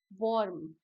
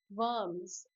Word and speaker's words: worms: अच्छा, प्रोनाउंसिएशन देखना, बहुत लोग बोलते हैं वॉर्म. वॉर्म नहीं होता, इट्स वर्म्स. व व की साउंड आती है. ठीक है, व की साउंड आती है. वर्म्स, वो नहीं, वर्म्स.